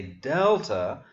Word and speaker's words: delta: And I say delta because this letter name in Greek is spelled with the short E that we come to next.